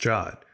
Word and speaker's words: JWT: it to the console a jot spelled JWT but usually pronounced jot is an abbreviation for